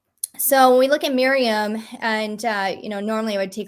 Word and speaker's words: Maryam: But yeah, she sounds like mayhem. Yeah, sometimes she's mayhem, but it's more like Maryam.